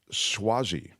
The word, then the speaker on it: Suozzi: York cro film says the name is pronounced swazi okay I lived in